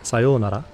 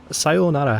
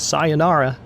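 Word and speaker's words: さようなら: sayonara or as it would properly be said sayonara people don't know that sigh sayonara has a double O sound the westernized pronunciation is sayonara but it's sayonara to be trying to remember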